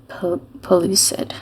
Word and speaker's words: pellucid: So a pellucid. Pellucid? That's how I'm going to pronounce it.